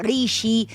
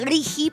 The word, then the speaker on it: RIGI: a las grandes inversiones, que no se dice Righi ni rigi, se dice rigi porque es una sigla, eh, y esa es